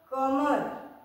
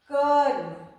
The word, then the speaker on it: कर्म: जब हम लोग प्रोनाउंस करते हैं तो ऐसे क्या होगा? कॉमर तो वो प्रोनाउंस गलत होगा। हम लोग जब भी करेंगे तो पहले पहला वाला व्यंजन उसके बाद और र आधा र की मात्रा र जो जानते हैं हम लोग उसके बाद दूसरे व्यंजन का प्रोनाउंस करेंगे। तो इसका हम लोग क्या प्रोनाउंस करेंगे? कर्म क्लियर पहला कधा र